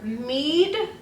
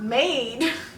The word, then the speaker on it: Mead: I have had kids like they couldn't pronounce the word mead, and they were like, "Can I just call you Mrs. Maid?" And I was like, "That's not my name. It's Mead, not Maid."